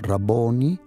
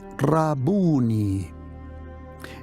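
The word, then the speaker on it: Rabbuni: resucitado le dijo rabuni en español dice raboni pero literalmente en arameo rabuni en hebreo en arameo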